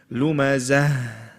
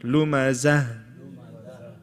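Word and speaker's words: لمزة: Many people leave this ha out totally. They just say, وَيْلٌ لِكُلِّ هُمَزَةٍ لُمَزَةٍ. No. Lumazah. You have to pronounce that ha.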